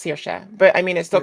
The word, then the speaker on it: Saoirse: I mean, the name itself is pronounced Saoirse, but I mean, it still comes down to variation.